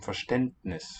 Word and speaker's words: Verständnis: The D there in Gründen and also I think in Verständnis should be a voiceless one.